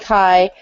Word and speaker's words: chi: count okay hey um are we on chi square pi square or pronounced chi Chi yeah I asked her